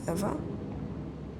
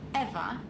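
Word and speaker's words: Ewa: to a lifeless machine besides eva is spelled e w a not e v e i thought we agreed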